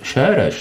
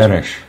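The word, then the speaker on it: Soros: Šéreš se to snad vyslovuje. Séreš. Séreš nebo Šéreš, já nevím. Séreš. Séreš, no. Prostě přehlasovaný o maďarštině Séreš.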